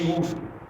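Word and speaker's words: איוב: E se lê Iuv.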